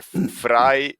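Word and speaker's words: Vrije: ah a Exatamente é Fry né ó se escreve vay com J no final né mas se lê fra por causa que em holandês o v se pronuncia como f e fica FR univers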